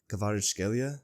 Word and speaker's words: Kvaratskhelia: Kvaratskhelia? Okay. Yeah, what? Good pronunciation.